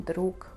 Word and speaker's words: друг: Мы пишем друг, но говорим друг.